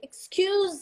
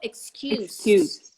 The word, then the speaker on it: excuse: be S or Z if it's a verb what do you say excuse me I remember Rachel there's a Rachel lying where she goes excuse me um or the noun that was a terrible excuse that was a terrible excuse excuse me Z excuse me that was a terrible excuse double s ha three times because